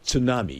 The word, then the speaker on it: tsunami: Do you you know there's a T in front of that word. It's pronounced tsunami.